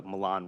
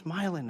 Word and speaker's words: Milan: down in Sandusky and I see milin Road and I'm like oh Milan road I was like no it's not it's it's milin it's like well you